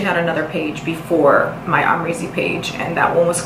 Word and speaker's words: Amrezy: So how to pronounce my name, it's Amrezy.